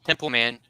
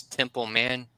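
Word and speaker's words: Templeman: that name and it it is exactly how it is uh phonetically it sounds Temple man squished together it's uh compound word Temple man templ man and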